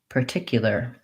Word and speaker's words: particular: to pronounce this word i made the realization that i don't really say particular typically i think that instead of per when i'm saying this word i say so i reduce this er this vowel